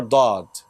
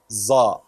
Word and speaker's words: ض: The most common mistake is changing Dad into Za. First of all, there is no such letter in Arabic as Za. There is no Za in Arabic.